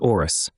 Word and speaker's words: Horus: The elemental gods are impressive and mighty, especially Horus, pronounced Orus, who carries various bracelets or rings of massive gold around his forearm.